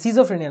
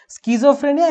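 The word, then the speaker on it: schizophrenia: Right spelling সিজোফ্রেনিয়া, স্কিজোফ্রেনিয়া কিন্তু উচ্চারণ হবে, সিজোফ্রেনিয়া না, ওকে স্কিজোফ্রেনিয়া।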